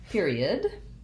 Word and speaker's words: period: And period has first syllable stress. And even though it's spelled with ER, period has the E, ear. So it doesn't say like person or perfect. It says ear, like fear or near.